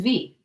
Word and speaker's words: Vie: is your middle name my middle name is v v i e like c'est la vie uh I think it